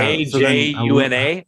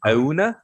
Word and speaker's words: Ajuna: I don't think you say the J. Yeah. Ajuna. Ajuna.